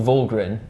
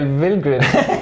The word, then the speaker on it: Valgren: It's amazing, isn't it, how you tipped Michael Vollgren for the win back in 2014. Ponferrada, and yeah. Now he's called Michael Vilgren. Yes. Yeah, well, what an evolution. I looked it up on a pronunciation website, which I don't know